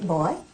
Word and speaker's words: boy: And you don't say boy, you say boy. When it's properly said, it's a two-syllable word.